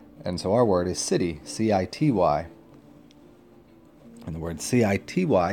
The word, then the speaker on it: Siddhi: Call this one the City Mystic. So let's talk about the city. The city is spelled Siddhi, and it means somebody that has perfected something or has power.